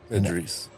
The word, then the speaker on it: Idris: Idris, Idris.